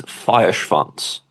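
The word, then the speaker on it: Feuerschwanz: According to the singer, it's Feierschwanz.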